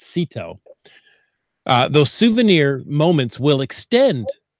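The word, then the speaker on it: CITO: cash in trash out that's Seto is how its properly pronounced don't listen to anyone else it's Seto those souvenir moments will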